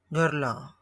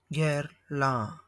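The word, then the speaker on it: Guerlain: Here are the correct pronunciations of the famous perfume brands. Gerla Gerla.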